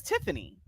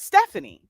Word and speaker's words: Tiffany: my name my name is tiffany it's not stephanie and outside of folks